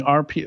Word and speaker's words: Arpio: Yeah, and for people listening, RPO or watching, I guess, RPO is spelled ARPIO.